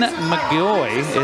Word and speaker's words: McGaughy: free throw is good hey hey by Bren mgy it's spelled MC g a u g y but pronounced mgy one more free throw for the senior for